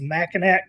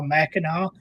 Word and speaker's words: Mackinac: Ranger says, Mackinac, come on now, Mackinac. This one has always tripped me up. I'm not from Michigan, but why is it spelled Mackinac but pronounced Mackinac?